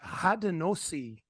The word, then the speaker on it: Haudenosaunee: So Haudenosaunee is how I pronounce it. But you know, someone, original person, might correct me on that.